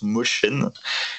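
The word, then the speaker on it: Mosjøen: Il a réalisé une série en 19 épisodes qui s'appelle Made in Mosjoen, qui se prononce Motion.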